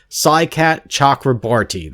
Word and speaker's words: Saikat Chakrabarti: Saikat Chakrabarti.